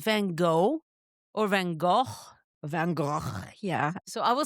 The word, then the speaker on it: Van Gogh: Van Go is the Dutch way and the French Vanog. Van Go. Yeah. And when I said that to my husband, he went, "It's Van Go."